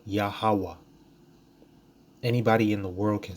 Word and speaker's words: Yahawah: But it's too hard to say Yahawah. It's a simple 3-syllable name. Okay? Yahawah.